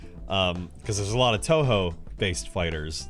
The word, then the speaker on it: Toho: It's pronounced Toho, not Tuhu.